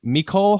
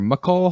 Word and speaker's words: Mecole: Mecole Hardman or McCole Hardman? I'm calling him Wide receiver Mecole, for the Chiefs. like Michelle.